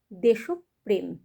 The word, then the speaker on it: দেশপ্রেম: দেশ এই শব্দটা ওকারান্ত হয়ে যাবে। দেশপ্রেম দেশপ্রেম শিবরাত্রি।